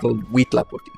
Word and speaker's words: Huitlaphocty: I'd just like to point out, by the way, H-U-I is always pronounced we. H-U-A is wa. It's not, there's no H. It's Huitlaphocty. Oh.